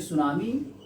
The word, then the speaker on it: tsunami: जिसे हम सुनामी कहते हैं, इसको जैसे सुनामी टी साइलेंट है बच्चों, देखो यहाँ पर टी क्या है? साइलेंट। इसको हम ऐसे बोलते हैं सु ना में, सुना में, सुना में, सुना में।